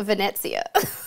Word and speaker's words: Venezia: So Jessica says it's Venezia or Venezia, Venezia, Venezia. How do we feel? Okay, so then Carnival Drew works for Carnival. Let's see what he says. Venezia. Did I say it right, Drew? Venezia. Oh, this is fun. Venezia. Which is pretty much what Jessica was saying. Venezia. But see, Drew, he kept the S in there, not the Z.